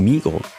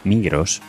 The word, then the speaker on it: Migros: El grupo Migros, sí, ya digo que voy a pronunciar la S en español.